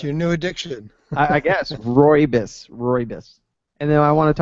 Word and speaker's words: rooibos: It is, I believe it's pronounced rooibos, Roobous, rooibos, and it's like this red tea, and it's really good.